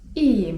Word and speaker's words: iyiyim: I na to możemy odpowiedzieć: iyiyim (czyt. ijijim) 'mam się dobrze' iyiyim (czyt.